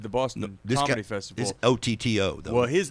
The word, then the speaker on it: Oddo: is OTTO though. Well, his name is spelled just like mine. His name is Paul Oddo, but it's pronounced Paul Otto.